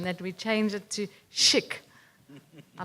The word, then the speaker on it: chic: So I was thinking controlled human infection challenge, but you have to pronounce it the French way, like chic. Chic. Otherwise, it's like chick, and then you're back to square one.